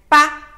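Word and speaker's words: 八: It pronounces 8 as ba, ba. This way is very similar to the word fa, fa.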